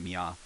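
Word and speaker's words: みゃ: like so i just think of miaow so i think of miya and sam has got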